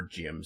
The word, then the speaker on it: GM: As GMs are normally the mass-produced versions of Gundams. GM or Jim, sometimes they're pronounced just Jim.